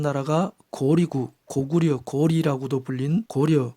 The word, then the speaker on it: 고려: 거리고 고구려 고글이라고도 불린 고려 옛 발음은 고리입니다 고리국에 출신인 해모수였기 때문에 해모수부터